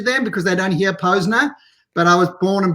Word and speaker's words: Posner: we went on the air like it's we pronounce it Posner and I have to correct people a lot